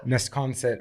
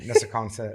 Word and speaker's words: Nesconset: Love you, Long Island, but Nesconset or Nessaconset. I said Nessaconset. You sound like you're from another country.